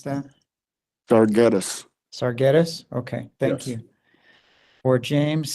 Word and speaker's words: Sargetis: me on your last name how do I pronounce that darus sarus okay thank you or James sarus um